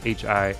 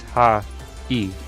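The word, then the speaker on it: はい: How you say it is ha-E. Ha-E. It's actually an E sound, but when you put them together, hi, if you say it quickly, it sounds like an I sound.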